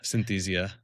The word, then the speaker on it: Synthesia: you just tell me how to say is synthesia since I've been saying it like fantia fantasia fantasia. We get a lot of different pronunciations. It's a synthesia.